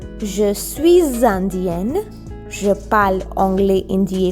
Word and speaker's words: anglais: Je parle anglais without the pronunciation of S, anglais, hindi, H silent, et français.